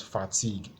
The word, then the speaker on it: fatigue: the next one is fatigue so fatigue is one is um is two syll so the stress syllable on the second part this is a noun